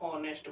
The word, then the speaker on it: honest: इसमें एच जो हमारा होता है साइलेंट होता है, हम ऑनेस्ट बोलते हैं।